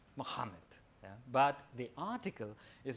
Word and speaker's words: Muhammad: Now, I know a little bit of Arabic, so I know that it's pronounced Muhammad.